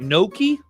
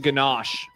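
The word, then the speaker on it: gnocchi: We had soup with Is it Noki? I always want to pronounce it ganache, but it's noki.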